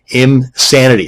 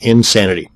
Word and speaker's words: Imsanity: And another one is Imsanity. That's I-M Sanity, not Insanity.